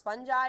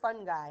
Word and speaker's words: fungi: yet grows on stuff fungi which is fungus it can be nice it can be pronounce funi or fun guy I'm a fun guy